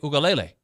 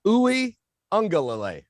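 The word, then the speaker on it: Uiagalelei: am i right dj ukulele uh a little off but uh ooey angola ooey angola yeah i don't think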